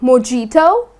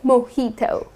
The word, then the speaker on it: mojito: is mojito okay so instead of putting stress on the j like mijito that's incorrect you're gonna say mojito I'll have a glass